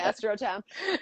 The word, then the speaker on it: Astrotheme: So Tennah, Clodocin, that the pronunciation is AstroTem.